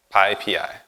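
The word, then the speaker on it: PyPI: know the joke but no the way you pronounce it is like this pi pi so I'm here to talk about pi PI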